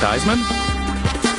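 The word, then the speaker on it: Theismann: Craig show me MBO Joe dman rhymes with Heisman uh Boomer seon Boomer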